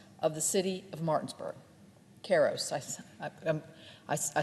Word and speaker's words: Karos: Karos. I said his name wrong, and I don't want to do that